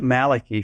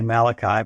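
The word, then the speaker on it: Malachy: about it it was Bishop Malaki from the year 1129 ad we would say Malachi but back then that's how they pronounced it he got the code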